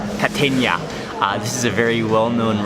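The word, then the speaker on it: Kategna: It's called, you pronounce it Catenia. Catenia.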